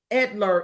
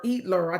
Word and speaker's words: Edler: of being um uh Ashley Edler eatler I think is how you pronounce her name e d l e r she is a psychologist